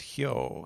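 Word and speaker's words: 豹: there uh that is the kanji for uh leopard uh which is pronounced hio so presumably that's for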